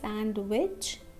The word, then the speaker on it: sandwich: Remember, we won't say sandwich. Okay, we will not say sandwich because this D is silent.